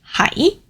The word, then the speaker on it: 喺: This one, hai, is a rising tone. It's the mid-rising tone.